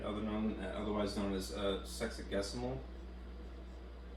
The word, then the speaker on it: sexagesimal: Otherwise known as sexagesimal. Pronouncing that correctly.